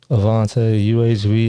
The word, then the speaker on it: Avante: Avante. It's spelled phonetically, but that's my name.